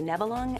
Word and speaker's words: Nebelung: belling neverloo no uh nibilung it's a cat me from the german word naval for fog some people say nevalong and other people say navalny regardless of how you